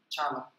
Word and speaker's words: Chala: É porque em sânscrito o som cha normalmente é escrito com a letra C. Tá? Então, se você fosse escrever isso, em, digamos assim, de uma maneira mais convencional, você escreveria Kala e você leria Chala. Detalhes que às vezes importam.